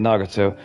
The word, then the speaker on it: Nagato: Nagato.